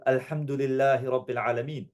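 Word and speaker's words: الحمد لله: So like um alhamdu alhamdul. Very good. Alhamdulillah. Alhamdulu.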